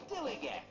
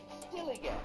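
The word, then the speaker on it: DILLIGAF: In a word, dillygaff. That's spelled D-I-L-L-I-G-A-F, dillygaff.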